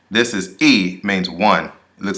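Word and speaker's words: 一: This is E, means one.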